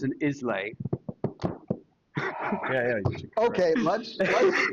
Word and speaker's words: Islay: Yeah, it's Isla. Isla. Yeah, like Isla Fisher.